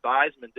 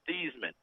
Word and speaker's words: Theismann: and ask for the Theismanns, everyone will give you a blank look. because the real family name is Thiesman. Oh. They changed it to Theismann at Notre Dame to rhyme with Heisman, and they were trying